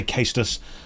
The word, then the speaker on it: cestus: to change to the I think you pronounce it cestus the leather fist things the old Roman weapon some people say casus some people say cestus so I'm going to change the cestus and we are going